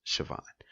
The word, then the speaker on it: Siobhan: Tiffany I always pronounce Siobhan I know it's felt kind of weird where I know it's spelled differently but it's pronounced Siobhan you know you'll see